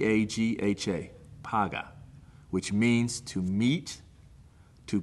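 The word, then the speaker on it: פגע: intercession is the Hebrew word translated intercession is paga I'm gonna spell it out PA G H a so the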